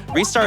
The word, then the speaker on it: Ristar: We also have a $25 donation from Ristar saying, Ristar is pronounced Ristar.